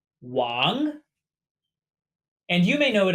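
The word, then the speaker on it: 王: This is pronounced wang.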